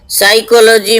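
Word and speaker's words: psychology: इसी तरह साइकोलॉजी, साइकोलॉजी में P साइलेंट है।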